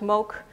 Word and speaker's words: mogelijk: And well, as you see, you know, this is pronounced as mok, but it is written as mogelijk, so this is really a reduced pronunciation variant.